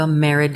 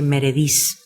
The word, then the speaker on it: Merediz: Merid is like Meredith because it used to be Meredith, I guess, decades and decades ago.